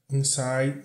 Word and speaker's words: inside: Consuming all the air inside, o D aqui não é pronunciado, inside my lungs.